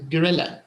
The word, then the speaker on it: gorilla: the three and this one it's actually pronounced gorilla gorilla yes like forget it's like forget correct